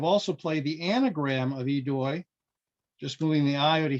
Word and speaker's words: aidoi: Under the usual pressure of the clock, Joe was able to pull off an efficient combination, starting with the OSW AIDOI, pronounced idoi, I think, and it's the plural of eidos, which is a Greek term for respect.